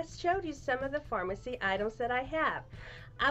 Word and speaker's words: Farmasi: from a company called pharmacy and it may not be the same pharmacy as a lot of you know and i'm going to spell it up here it's f-a-r-m-a-s-i so if you want